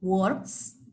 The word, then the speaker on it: works: The pronunciation is different for work. Work, I work, you work, we work, they work. Okay? It's different for he works, she works, or it works.